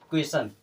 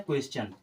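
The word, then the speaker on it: question: तो क्या हो जाता क्वेशन क्या होता क्वेश्चन लेकिन इसका सही प्रोनंसिएशन होता है क्वेश्चन क्या होता है क्वेश्चन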